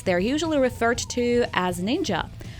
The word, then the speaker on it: ninja: usually referred to as ninja that's how the word shinobi is pronounced in the chinese manner this title gained its